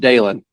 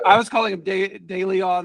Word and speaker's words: Dalen: So you pronounce Dalen like Waylon, just with the D. Dalen. So just Dalen. Yeah. I was calling him DeLeon, I think, for a while, and he gave me that.